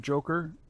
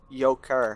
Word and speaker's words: Yoker: Joker and I'm sorry, the sir. queen It's Yoker. It's Yoker. Yoker? Please pronounce his Yoker.